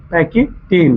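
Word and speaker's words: pachytene: सुनिएगा ध्यान से, PACHY, पैकेटिन। पैकेटिन स्पेलिंग सही है ना जी?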